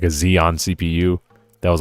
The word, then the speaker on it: Xeon: Did I mispronounce it? Sorry, a Zeon CPU.